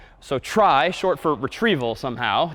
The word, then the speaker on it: trie: that we'll call a try so try short for retrieval somehow t r i e but pronounced try and this one's kind